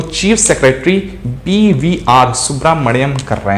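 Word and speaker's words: Subrahmanyam: तो chief minister कौन है, BVR सुब्रमण्यम, BVR, ठीक है, सुब्रमण्यम, ठीक है, सुब्रमण्यम, स्पेलिंग पे मत जाइएगा, ठीक है, सुब्रमण्यम है, ठीक है, BVR सुब्रमण्यम, ये आपको ध्यान रखना है।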